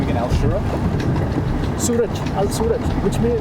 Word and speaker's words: Suraj: Suraj, Al Suraj, which means... How do you spell that? S-U-R... Yep. Suraj, R-A-J.